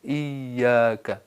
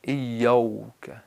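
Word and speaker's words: إياك: نرمی سے، ایاک، ایاک۔ بعض لوگ الف کو واو میں بدلتے ہیں، ایوک، ایوک، یہ فارسی لہجے میں بعض لوگ یوں کرتے ہیں، تو شاید اس سے تقلیداً یوں کرتے ہوں گے، تو ایوک نہیں ہے، ایاک ہے۔ اسی طرح کاف کو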